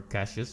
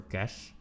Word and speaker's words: cache: I've heard people pronounce it as cache, and I think that's wrong. I think it's just cache, but, you know, not the Johnny kind.